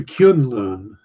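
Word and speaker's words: K'un-Lun: they said kunlau which sounds vaguely like Kung Pao yeah it might be closer to kyun Loon because it's K apostrophe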